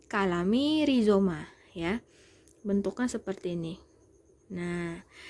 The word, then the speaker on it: Calami Rhizoma: Ini bacanya bukan calami tapi kalami rizoma ya.